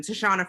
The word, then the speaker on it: Tishonna: doing what i'm sorry i don't want to mispronounce your name uh how do you say your name last name to shauna okay i didn't want him because i